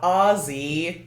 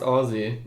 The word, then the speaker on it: Aussie: a homeless australian guy oh not ozzy i think it's still pronounced aussie either way jesus christ we